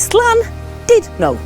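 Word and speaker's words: Llandudno: and Judy so remember it's not dud it's slan did no so there you are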